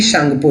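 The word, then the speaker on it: Tsangpo: और यहाँ पे आप देख सकते हैं टी सांगपो रिवर, इसको सांगपो रिवर किसको बोलते हैं? ब्रह्मपुत्र को बोलते हैं। टी साइलेंट रहता है।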